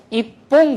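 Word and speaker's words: 一本: 이래서 바뀐다고 했으니까 있지 홍인데 바뀐다고 했으니까 퐁이 돼야 되는데 있지 뽕 하려니까 발음하기가 나쁘잖아요. 그렇죠? 이쪽에서 파열음이 오려고 하니까 자연스럽게 이 녀석이 초금화를 일으키는 거죠. 그래서 이뽕 그렇게 되는 거예요.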